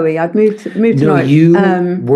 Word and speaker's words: Norwich: It's actually Norwich.